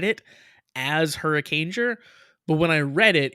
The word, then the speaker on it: Hurricaneger: episode that is called Hurricaneger. I didn't pronounce it as Hurricaneger. I pronounced it as something horrifically different than Hurricaneger. Kieran says Hurricaneger is just hurricane plus ger, as in ranger, not whatever the hell you said it was.